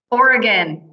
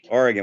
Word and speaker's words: Oregon: to make sure that we got it right oregon you got it right oregon we did pretty well okay that's good to